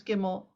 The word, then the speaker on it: gimel: don't have that anymore we pronounce gimel whether it has a dot or not we pronounce it but